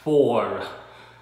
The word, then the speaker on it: four: o u r á, người Việt không có đọc cái chữ r ở ngoài sau cái for. So nếu bạn đọc đúng á là for, bạn có cái r ở sau đó for, bạn đọc hơi nhẹ nhẹ thôi, for for.